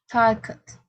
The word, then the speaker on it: talked: Talked.